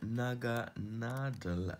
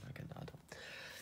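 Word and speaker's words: Naganadel: And the final one is a Naga Nadel. Now, I pronounce this in the German, with the German pronunciation, Nadel meaning needle, and Naga, which has links, I think, back to sort of Oriental sort of mythology.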